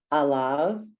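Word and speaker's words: עליו: very smart and then on the two it's alav um because the iron is silent okay and three is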